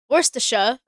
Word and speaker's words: Worcestershire: So Wor Worcestershire. Let's just to keep the peace. Worcestershire. Worcestershire sauce. You have like that same Cester in here.